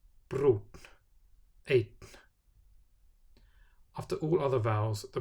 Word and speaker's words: einn: Following a vowel with an acute accent, I, A, or Ö, the pronunciation is TN. Fín, brún, einn.